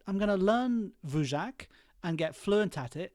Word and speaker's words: Dvorak: created by a guy whose name I think is pronounced vac d v o r a k and that became the